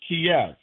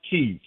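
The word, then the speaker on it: Kyiv: word is K Kev it's pronounced Kev it's not Kei it's not pie we say Paris so wait a minute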